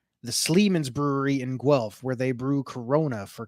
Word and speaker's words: Guelph: Guelph. Yeah. See, here in Canada, we're dumb, so we spell things so stupid. Sounds it's spelled with a U, but sounds like a W.